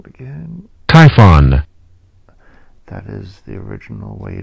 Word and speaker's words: Typhon: press the sound again typhon that is the original way to pronounce this name typhon not t y p h o o n type not typhoon but typhon typhon that's dictionary meaning